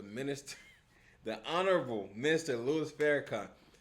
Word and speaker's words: Farrakhan: She just called the minister, the honorable minister Louisis Farrakhan. She just called him Fareragon.